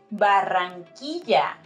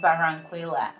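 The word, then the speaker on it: Barranquilla: let's check this out it's barangquija not baranquila or anything else also it's Bogota not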